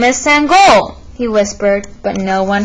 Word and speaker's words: Sangoel: his teammates ran up hey sango my name is sangol he called softly as